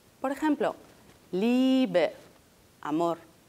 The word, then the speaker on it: Liebe: La I es larga también cuando va seguida de E. Es decir, una IE equivale a una I, a una I larga. Por ejemplo, Liebe, amor.